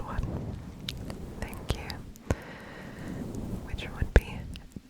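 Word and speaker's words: bitte: in butter fle butter fle butter butter butter but butter fake butter fake butter fake butterf so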